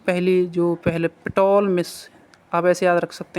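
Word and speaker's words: Ptolemy: रख सकते हैं इसको, पिटोलमिस। ठीक है, और नीचे देखो इसको आप पिटोलमिस मतलब या फिर पॉलमिस, ऊपर वाले को ऐसे याद रख सकते हैं, टी को साइलेंट कर सकते हो।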